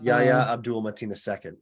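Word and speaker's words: Yahya Abdul-Mateen II: Yahya Abdul Mateen II is his name. So I think I mispronounced it the first time, but not that second time that I just Yeah.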